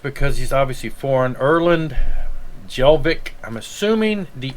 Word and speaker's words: Hjelvik: he's obviously foreign erland jelvik i'm assuming the h is silent let's see okay it's actually pronounced yelvic metal composer lyricist and